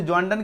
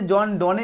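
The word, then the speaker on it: John Donne: ऐसे जॉन डोने इसको पढ़ा जाता है रियलिटी में, लेकिन जॉन डन जो है इसका सटीक प्रोनाउंसिएशन है, ठीक है। तो जॉन डोने पढ़ो या जॉन डन पढ़ो, आपका चॉइस, ठीक है, लेकिन जॉन डन बिल्कुल सही है, ठीक है।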